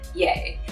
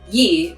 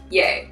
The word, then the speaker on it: Ye: word in the bible the pronunciation in old texts like the bible is ye but kanye uses it as yea quite interesting but this